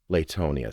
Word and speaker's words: Latonia: The fact that locals pronounced Latonia with a long A sound, as in lay, was a linguistic remnant of this fact. You could always tell you were dealing with an out-of-towner when they pronounced the city's name with a short A, as in lateral.